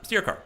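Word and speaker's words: Styrkaar: Steercar, okay.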